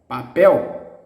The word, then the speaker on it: papel: show you the health the strong distressed syllable in the last one for example the word paper papel papel the word bamboo we